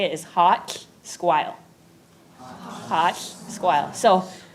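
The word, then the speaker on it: ha7lh: it when you say hot it's spelled h a 7 l h so how you pronounce the lh is you put your tongue to the roof of your mouth and you blow so can everyone do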